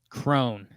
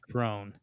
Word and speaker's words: Cron: And you're buying in that Cron, is that how you say it, and Scope can offer a jilt or something. I don't know. Nothing, man. You're a dormant fan. Crone. It's pronounced Crone.